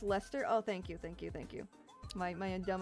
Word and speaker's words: Leicester: Pronounced Lester?